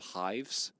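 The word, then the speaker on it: Hyves: We had our own social media platform called Hives. Which, yeah, I know. That was the name. It was spelled with a Y. It was like beehives.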